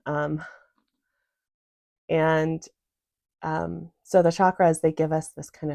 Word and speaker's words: chakra: k r a and the C Sound in Sanskrit says CH like Choo Cho so chakra is is the way